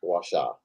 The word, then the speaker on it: gua sha: It's gua sha. Right there, you can pronounce it a little bit differently, but bottom line, GUASHA.